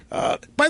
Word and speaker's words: Bey: By the way, when they do they pronounce it Queen Bey or Queen Bee? What are they? When they Queen Bee, Queen B-E-Y is B.